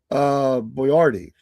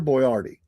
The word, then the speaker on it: Boiardi: to culinary legend Hector Boyardee. Hector Boyardee. It's spelled different than Boyardee on the can, but Boiardi.